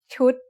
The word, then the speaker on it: ชุด: What's the tone of ชุด? It's a low-class consonant with a dead syllable and a short vowel that makes it high tone.